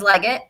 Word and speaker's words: Legette: and then so Xavier I have always said Legette but I feel like when he says it he says leg it but his accent's crazy so I don't know but